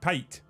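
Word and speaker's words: pâté: No, not paint. Paint. Pate. Pate if you say it correctly.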